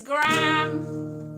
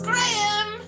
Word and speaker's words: Graham: and they said that the word GRAHAM is gram, like the flower. Or the measurement. And everyone went, no, it's Graham! No, it's Graham! It's not one syllable!